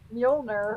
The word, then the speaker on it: Mjolnir: It's no Mjolnir or Thor, but forgive me if I just mispronounced it.